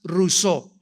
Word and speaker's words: Rousseau: mundo llamado Jean Ja rosau rosau o rousseau como lo quieran pronunciar en francés Jean Ja rousseau este hombre nació en